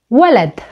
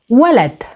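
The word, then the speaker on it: ولد: Another example can be the word Walad, Walad, Walad, which means boy. Again, here you can hear the word starts with the sound W, which is the long vowel U, in this case pronounced as W.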